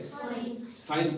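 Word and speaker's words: sign: साइ क्या पढ़ते है साइन पढ़ते है क्या पढ़ते है साइन पढ़ते पढ़ते है नहीं पढ़ते य भी ए से पहले क्या आया है जी आया है तो यहा भी जी क्या है साइलेंट है क्या है साइलेंट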